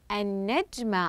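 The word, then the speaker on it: النجمة: ايضا نجمه تصبح ماذا النجمه احسنتم قمت باضافه اللام الشمسيه وقمنا بتشديد الحرف الذي بعد اللام الشمسيه حتى يصبح حرفا مشددا وهو النون واخيرا لدي طائره سوف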